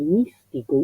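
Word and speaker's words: mistico: La diferencia de pronunciación entre místico español y místico italiano, ci la da la S. Místico. Si hay una S hay que decirla, no es para tragárnosla como el pasto místico.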